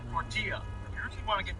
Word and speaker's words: tortilla: Totally forgot about those two L's. Tortilla, you really want to get Mexican with you. Tortilla.